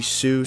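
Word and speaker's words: Siu: And the name that I did look up that is how you're supposed to pronounce it comes from his fans hearing him yelling the word C, which is Spanish for yes, and somehow morphed into Sue, which is what the move is called now.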